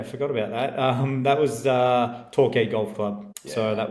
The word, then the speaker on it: Torquay: That was Torquay Golf Club. Yeah, so that was good too. Yeah, forgot about that. That little 9 holes like, after the rain. Like the live team? TORQU? Torquay.